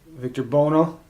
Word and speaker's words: Victor Buono: in it roddy mcdowall victor be Lana no Victor Buono that's how you say his name Bono was